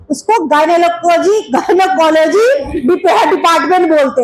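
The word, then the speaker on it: gynecology: का इलाज का जो डिपार्टमेंट है उसको गनकोलॉजी गयनेकोलॉजी डिपार्टमेंट बोलते हैं। ठीक है? इसका स्पेलिंग बोलना पड़ेगा।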